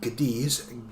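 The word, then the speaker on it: Cádiz: So this the founding of the city of Kadis which phonetically sounds like Gadis Gades G- A D S or C A D I Z.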